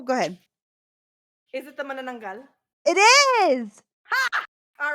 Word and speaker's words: manananggal: Yeah, we don't have hard vowels in the Philippines, so whenever you see when you ever see any of the vowels, it's not pronounced a, it's just ah, so it's manananggal, not manananggal, it's manananggal.